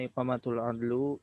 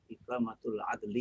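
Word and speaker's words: إقامة العدل: Pertama Yang pertama iqamatul adlu bainan nasi kullan nas. Nah, bacanya keliru itu. Coba baca pakai Arab. Iqamatul adli. Oh, iqamatul adli bainan nasi kullan nas.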